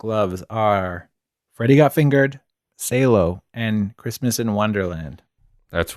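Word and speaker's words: Salò: freddie got fingered and salo 120 days of sodom mm-hmm and we were informed actually on the episode where we covered it it's actually pronounced sallow oh that's right the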